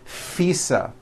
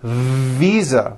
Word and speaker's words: visa: just received her international fisa correct no i said fisa with an unvoiced f i should have said visa with a voiced v living i am living